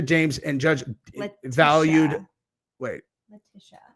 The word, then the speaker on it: Letitia: Letitia is how you say that.